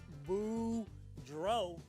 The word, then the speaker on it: Boudreau: know hey everybody my name is boudreau that's pronounced boo dro and i'm here to